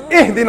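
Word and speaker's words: اهدنا: You better not say, Ahdina as-sirat al-mustaqim, otherwise I'm going to pound you. It's Ihdina as-sirat al-mustaqim. Read it right.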